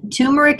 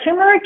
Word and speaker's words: turmeric: that we haven't touched on yet is the tumeric if I'm pronouncing that correctly yeah turmeric is a supplement that you see a lot